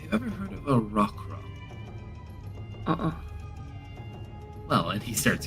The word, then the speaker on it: roc: They call it a rock cuz roper is made of rock and the rock is spelled R O C. So rock.